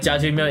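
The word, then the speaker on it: 짜장면: But it's also like jjajangmyeon is like one of the popular takeout dishes to eat in Korea.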